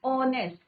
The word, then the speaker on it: honest: परंतु उसका प्रोनाउंसिएशन क्या है बच्चों? ऑनेस्ट. वॉवल का प्रोनाउंसिएशन है, that is व्हाई वी यूज an before ऑनेस्ट.